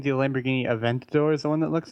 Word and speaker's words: Aventador: But you got Lamborghini Diablo, you got the Lamborghini Aventador, you got Aventador, yes. Aventador. Sorry, I pronounced it wrong. Yeah. Gallardo. But that's Murcielago. Wait, you're saying the Lamborghini Aventador is the one that looks different?